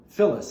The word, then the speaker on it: Phyllis: Phyllis. It's spelled P-H-Y-L-L-I-S. Phyllis, not with an F, but with a P-H.